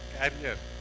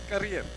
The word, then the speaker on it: career: for public speaking something you say carrier no it is career it's curious use the right pronunciation so somehow forgive me